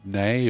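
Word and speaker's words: Nei: I'm sure somebody's going to tell me it should be nay or nigh, but yeah, I've always said knee.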